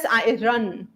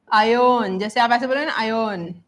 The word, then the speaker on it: iron: gold iron and silver okay this is not pronounced as iRun this is not pronounced as iRun it's pronounced as ion I ion right then material nouns yeah yes